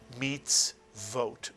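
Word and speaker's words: מצוות: This is a vav with a cholam chaser over it, making the syllable vote. Not oat, but vote. And therefore the word is pronounced meets vote, mitsuyan.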